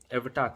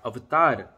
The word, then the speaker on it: अवतार: और जैसे जो एग्जाम्पल है जो मूवी एवटार था या अवतार, उसका सही प्रोनाउंसिएशन है, वो जेम्स कैमरन जो डायरेक्टर है वो भारतवर्ष जाता है, रिसर्च करता है और तब फिल्म बनाता है।